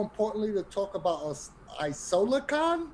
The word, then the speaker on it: IsolaCon: to talk about us Isola Khan is that that's correct that is pronounced correctly Isola Khan is a charity come